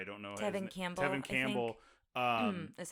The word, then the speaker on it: Tevin Campbell: Tevin Campbell.